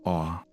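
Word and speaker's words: Orre: Although some fans pronounce it differently, the only official pronunciation of the region comes from a television commercial where it's said as "Or," so that's the one used.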